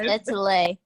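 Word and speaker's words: Étoile: It's pronounced Etule. Etule, my bad. It's star in French.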